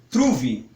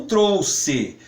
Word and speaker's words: trouxe: tratando do português-padrão porta quando o português padrão nós vamos pronunciar como trouxe Pode ser que alguma outra pessoa prefira outra pronúncia como trouxe truve que eu sei que tem algumas regiões que falam nessa forma não é Nenhuma crítica a essas pessoas mas numa português padrão nós vamos para anunciar sempre trouxe inclusive aqui no final